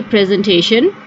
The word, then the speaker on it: presentation: The S here will be pronounced with a Z voice. That would be presentation.